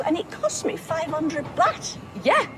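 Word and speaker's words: baht: It came from Thailand, as you very well know, and it cost me 500 bat. Yeah, rhymes with tap.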